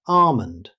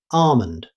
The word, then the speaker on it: almond: Moving on to almond. In British English, you'll commonly hear almond. In American English, many speakers don't pronounce the L at all and simply say almond.